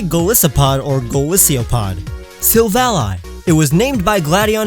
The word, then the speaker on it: Silvally: Silvally. It was named by Gladion himself. Silvally is his silver ally, his friend.